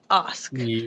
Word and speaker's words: Ask: It's spelled like ask, but it's pronounced Osk.